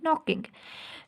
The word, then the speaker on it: knocking: है इसकी spelling KNOCKING, नॉकिंग। लेकिन हम क्या कर रहे हैं, हम के नॉकिंग नहीं बोल रहे, के नॉकिंग हम बोल रहे हैं नॉकिंग। के को हम क्या कर रहे हैं, साइलेंट कर रहे हैं।